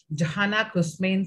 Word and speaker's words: Johanna Kouzmine: this part of the country i'll try to spell it right johanna kushmein kara if i i'm okay with their name